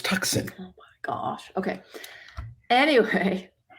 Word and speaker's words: Tucson: is it called Tucson it's spelled tuxen I don't know ask the people that named it this the the sea is silent it's tuxen oh my gosh okay